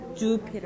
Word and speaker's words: Jupiter: 아, 주피터. 이거 주를 좀 더 길게 하시면 돼요. 네, 주피터.